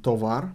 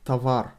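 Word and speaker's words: товар: thing happens in tawar written tovar pronounced tavar you can learn the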